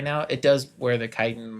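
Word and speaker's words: chitin: You get Chitten Spurs, gauntlets, mandibles, exoskeletons. Chitan. Kitan. Kitan. Oh, that's how you pronounce it.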